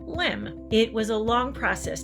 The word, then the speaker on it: LEM: Eventually, the word excursion was dropped from the acronym, but everyone still pronounced it the same, LEM.